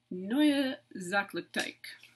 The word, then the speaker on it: Sachlichkeit: about hannah hoysh she is pretty rad okay zach lichtek i put out phonetically how you say this movement because i